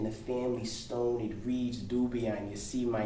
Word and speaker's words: Dubian: Pronounced Dubian as in Nubian queens who presided over Mother